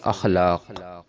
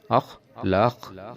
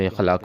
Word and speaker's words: اخلاق: کو بولتے بھی ہیں، جبکہ الف کے اوپر ہمیشہ زبر لگا کے اس کو پڑھا جاتا ہے، اور یہ لفظ اصل ہے اخلاق، اخلاق درست لفظ ہے، درست تلفظ ہے، جبکہ ہم اس کو اخلاق پڑھتے ہیں۔ عزیز دوستو، یہ وہ